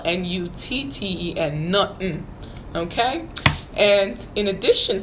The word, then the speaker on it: Nutten: And then the word nothing, how you say nothing is Nutten. Nothing is Nutten.